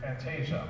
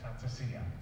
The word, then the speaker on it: fantasia: wrong all along, it's fantasia, okay? Because it's an Italian word, and so they, Italians don't really say j much.